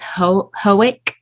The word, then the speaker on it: Hoek: say your name is hoek I actually pronounce it hook which it just doesn't look like hook at all but that's how that's